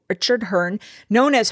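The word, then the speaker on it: Herne: Um, Richard Hearn, and I'm assuming the E is silent. H E R N E. Richard Hearn, known as Hearn the Hunter, is said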